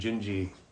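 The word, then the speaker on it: Dindi: a version of the girl from epema and gingi it's it's spelled dindy but it's pronounced gingi when you hear Frank sing it just a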